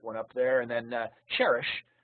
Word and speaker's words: Cherish: And then Cherish, which rhymes with fish, is the vivid red Petunia there to the right.